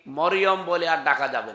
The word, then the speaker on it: মারিয়াম: মারিয়াম বলা লাগবে। কি কথা বুঝতেছেন? কি বলা লাগবে? কারণ এই শব্দটা আল্লাহ কোরআনে দিয়েছেন, একটা সূরায় নাজিল করেছেন, সূরা মারিয়াম। আপনার 40টা নেকি হবে এই শব্দটা উচ্চারণ করলে। মিম র ইয়া মিম, মারিয়াম, 40টা নেকি পাবেন। আর যদি মরিয়ম বলেন, 40টা গুনাহ হবে, কারণ অর্থ বিকৃত হয়ে গেছে।